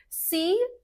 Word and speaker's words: C++: C, just like letter C.